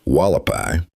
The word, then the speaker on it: Hualapai: These include the Havasupai, pronounced Havasupai, The Hualapai, pronounced Wallapai, the Hopi, the Navajo, Southern Paiute nations, and the Pueblo of Zuni.